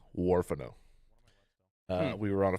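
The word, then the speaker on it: Huerfano: fact uh it is in a place called warano Colorado in the warano river valley that's spelled h u e r f a n o warano uh we were on a field research trip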